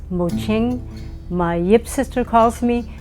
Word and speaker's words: Mo-Ching: I'm Mo-Ching, and that is spelled M-O-C-H-I-N-G, but since the digital world hates that hyphen, I sometimes take it out, but it's Mo-Ching.